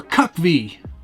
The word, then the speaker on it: CUCV: This week, I'm featuring the GCM CUCV, or CUCV, as it's sometimes pronounced.